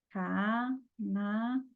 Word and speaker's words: Canadá: Canadá. Ó, o dá é o mais forte, está acentuado. Então, última sílaba, oxítona.